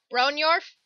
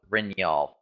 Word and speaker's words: Brynjolf: Bronyorf? Leader of the Thieves Guild. Oh, Brynjolf. Brynjolf. I can't pronounce, okay?